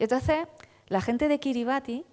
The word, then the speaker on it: Kiribati: Y entonces la gente de Kiribati, que se pronuncia Querebbas decía, pues la Unión